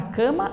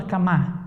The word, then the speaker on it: cama: Cama ou camá? Coloque em cima da cama ou da camá? Da cama. Então, cama é mais forte.